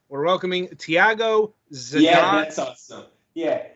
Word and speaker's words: Tiago Zaidan: Right, we're welcoming Tiago, Zaidan. Yeah, that's awesome. Yeah, in Portuguese, it's called Tiago, Zaidan, but the way you said it's perfect. I mean, you rocked it.